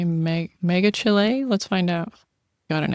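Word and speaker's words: Megachile: Mega Kylie.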